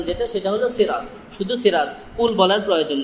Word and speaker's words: সিরাত: বললে যে গুনাহ হবে তা না বাকি সঠিক উচ্চারণ যেটা সেটা হল সিরাত শুধু সিরাত কুল বলার প্রয়োজন যাই হোক শব্দের